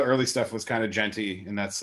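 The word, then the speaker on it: djent: It's gent, like gentleman.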